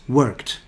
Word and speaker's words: worked: for example work becomes worked now some students make a mistake and say we're quite but there's no ed because you don't pronounce the e it's worked and again let's go